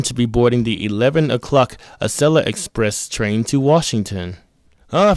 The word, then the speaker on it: Acela: I'm going to be boarding the 11:00 Asella Express train to Washington. Ah, for crying out loud, Google. Aella is spelled A C E L A.